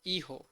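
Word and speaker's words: hijo: में रखना है कि स्पेनिश में एच जो अल्फाबेट है यह साइलेंट होती है एच अल्फाबेट को हम प्रोनाउंस नहीं करते हम इसे नहीं यूज करते हैं अगर हमें कोई से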